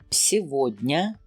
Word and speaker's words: Сегодня: When you see Иго. or Ого. in a word, for the most of the time, letter G in between will be pronounced as V. For example, Сегодня.